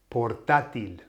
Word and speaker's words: portátil: It's a broken nose rule word, isn't it? Because it finishes with an L.